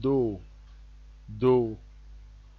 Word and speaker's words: do: now how do we pronounce these notes this pronounced do do why R is pronounced r m is pronounced